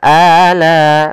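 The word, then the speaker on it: آلَاءِ: Kemudian pada lafal ala, pada lafal la dia ada bacaan mad wajib muttasil. Mad wajib muttasil. yaitu terjadi apabila adanya huruf hamzah yang datang setelah huruf mad. Di sini asalnya la dua harakat karena adanya hamzah yang datang pada satu kata, maka dinamakan dengan mad wajib muttasil. Untuk panjangnya berapa harakat? Panjangnya adalah empat harakat atau lima harakat.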